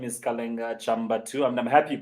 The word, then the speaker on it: Kalenga Chambatu: yes like you said earlier my name is kalinga chamba2 i'm happy to pronounce it correctly because i really get that